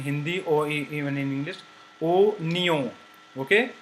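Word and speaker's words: oignon: or even in English, o nyo. Okay, it is not wa nyo but o nyo.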